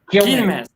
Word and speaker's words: Quilmes: It's Quilmes. Like Q-U-I-L. How do you say it? Quilmes.